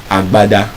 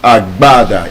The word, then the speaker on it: agbada: So because there's no B sound, it means in English phonetics, it cannot pronounce it as agbada, it's agbada.